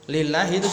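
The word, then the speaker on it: لله: ini Nah jadi penulisan lillah itu seperti itu gak ada alifnya ya kalau ada Alif ada alifnya maka dibacanya Allah tapi kalau gak ada alifnya bacanya lillahi Alhamdulillahi ya artinya alhamdu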